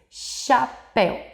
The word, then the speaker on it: chapéu: Mas ao pronunciar, nós ouvimos o som da letra X, chapéu.